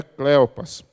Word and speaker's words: Cleopas: Na verdade, um deles aparece o nome que é Cleopas ou Cleopas, mas a tradução melhor, ou melhor, a pronúncia melhor é Cleopas.